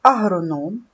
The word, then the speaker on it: агроном: твердий приголосний в слові Агроном три голосних звуки Отже три склади а Ром наголос падає на третій склад це агроном в слові Агроном три